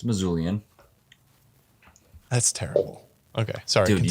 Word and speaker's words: Missoulian: won the western state is that how you say it missoulian or is it a missoulin it's missoulian that's terrible okay sorry